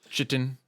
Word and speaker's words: chitin: I'm saying, but before we go to sleep, can Wiley go and like take the chitin?